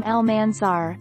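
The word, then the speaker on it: Almánzar: how i pronounce my name my name is pronounced belle ciele's and my last name almanzar cardi b explained she also decided to take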